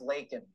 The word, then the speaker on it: Laken: And it's pronounced Laken, Joe Biden.